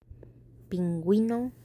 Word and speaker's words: pingüino: And they all have two little dots on top of the U because you are allowed to pronounce the U even though it's next to the G.